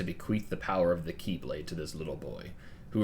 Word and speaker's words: Keyblade: It's not the Kai Blade, it's the Keyblade.